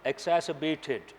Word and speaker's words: exacerbated: exacerbated, R is silent here, exacerbated.